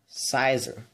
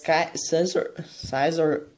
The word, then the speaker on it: Scizor: The last one is such a good Pokemon, Scizor. So, how you get this? You need to trade in it with having a metal coat on it so, to unlock those Pokemon. The Scizor, I believe that's how you pronounce, is really insane.